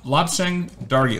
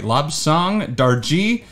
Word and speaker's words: Lobsang Dargey: And today, like I mentioned, we're talking about Lobsang Dargey. Lobsang Dargey. I've heard it pronounced at least 4 different ways.